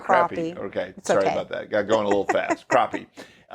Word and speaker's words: crappie: They're not crappie. They're not crappie. Okay. Sorry about that. Got going a little fast. Crappie. It's spelled crappie. It is spelled crappie, but it's crappie. Okay. Texas pronunciation there.